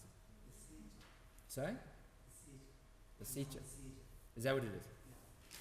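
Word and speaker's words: Lesetja: Lisette, how do I pronounce it? Sorry? Lasicha. Is that what it is? Okay, Lasicha.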